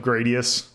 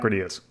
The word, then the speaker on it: Gradius: changes the pronunciation of gradius like halfway through yeah cuz they say Gradius it is not prettiest yeah even if it's